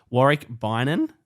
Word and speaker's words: Warick Beynon: joined here today by a very special guest wari ban that's how you say that's the correct pronunciation um former scooter rider pro scooter rider